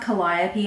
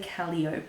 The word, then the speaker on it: Calliope: I think it's pronounced Calliope I've heard other people say Calio but I think it's Calliope is how you say that word which I think is the